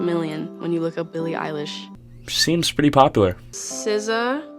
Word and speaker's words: Billie Eilish: My name is Billie Eilish. Billie Eilish. People really must mispronounce her name all of the time to the point where she sounds kind of angry when she says her name. Billie Eilish.